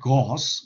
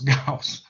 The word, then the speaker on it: Gauss: is gauss okay um it's not gauss it's gauss and i find it